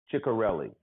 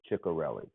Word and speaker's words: Cicarelli: name of Ray and I believe it's pronounced a teacher kelly to carry or the carry it's see I see a r ll i chicka relly i think that's it chicka relly Chicka rarely says he